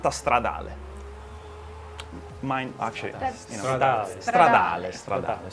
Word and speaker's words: Stradale: No, but SF actually, if I want to pronounce it in Italian way, I should say SF90 Stradale.